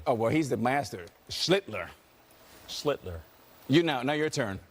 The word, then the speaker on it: Schlittler: Schlittler. Oh, well, he's the master. Schlittler. Schlittler. You now your turn. Sound like Hitler.